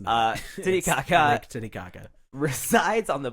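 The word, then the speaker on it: Titicaca: it's not every 12-year-old boy knows how to pronounce this tiaka there we go I was really hoping to something else it's uh tit Kaka tit Kaka resides on the border between Peru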